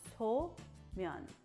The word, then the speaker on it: somen: So some people might pronounce it as Somen, but it's not. It's So-myeon, okay?